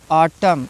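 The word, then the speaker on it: autumn: लेते हैं ठीक है किसी भी वर्ड में एम और एन दोनों साथ में आए हैं तो एम और एन में एन साइलेंट हो जाता है एम और एन अगर एक साथ आए हैं तो एन साइलेंट होता है लेकिन याद रहे एम के बाद एन आया होगा तभी साइलेंट होगा ठीक है ऑटम इसको ऑटम नहीं पढ़ा जाएगा कॉलम ठीक है डैम हाइम हाइमन नहीं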